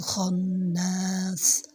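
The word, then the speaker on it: الخناس: উচ্চারণ হলো না তো আপনি খ টা মোটা করে পড়বেন হামজা লাম জবর আলাম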